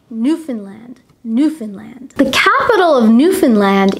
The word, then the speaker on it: Newfoundland: newfoundland be careful though many people who are not canadian try to pronounce this word as new found land we do not pronounce it that way we say newfoundland newfoundland the capital of